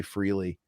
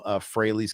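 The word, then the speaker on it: Frehley: Didn't you have that solo album Freighley's Comet? Shouldn't it be obvious that it's a pun and it rhymes with Haley's Comet?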